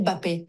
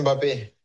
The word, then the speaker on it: Mbappé: a énormément de Français qui vous appellent Kylian Mbappé. Est-ce que c'est comme ça qu'ils vous prononcent? Non, Ah, non. mais voilà. J'aurais beaucoup de travail si je devais corriger tout le monde. C'est Kylian Mbappé.